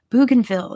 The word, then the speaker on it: Bougainville: bougainville yes um by te route tell me how to pronounce that bougainville is its name bougainville is going to be